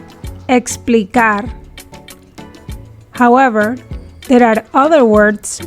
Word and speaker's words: explicar: english si lo fono when the ekis is in between letters in a spanish word the ekkis is pronounced like the english ks sound but softer or less explosive exito explicar however there are other